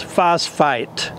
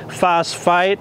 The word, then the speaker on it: phosphite: product to consider is phosphite now I'm not mispronouncing phosphate those are two different words phosphate is of natural origin phosphite is synthesized and the